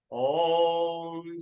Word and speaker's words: ओम: ओम का उच्चारण करेंगे दीर्घ ओम का उच्चारण ओ और म ओ ओ ओम देव शांति अंतरिक्ष गुम